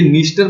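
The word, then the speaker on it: Dniester: इसके अंदर गिरती है ये निस्टर बोलते हैं इसको डी साइलेंट है यहां पर भी और यहां पर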